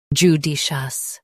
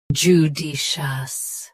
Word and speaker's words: judicious: shown on the screen, judicious. Both US and UK have the same pronunciation of this word. Stress di. Keep shus soft and clear. Judicious. Judicious. Stress di. Keep shus soft and clear.